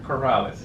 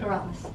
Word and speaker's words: Corrales: I said that right, Mynor Corrales? Yes, Mynor. I pronounce it Mynor Corrales. Yeah. Corrales.